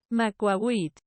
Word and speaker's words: macuahuitl: Macuahuitl. That's how you pronounce it.